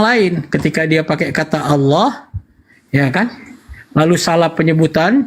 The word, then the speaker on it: Allah: alif Allah Allah itu ketika lamnya ada dua dan ada tanda tasdik maka lidah kita diletakkan ke langit-langit sebelah tengah Allah gitu cara pengucapannya ya bukan Allah Allah bukan itu hanya faktor dialek di daerah-daerah tertentu yang tidak mampu melafazkannya sesuai dengan makhraj huruf nah persoalan itu muncul